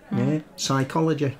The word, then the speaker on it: psychology: and ancient Greek too silent P hmm psychology Stefano okay but Italian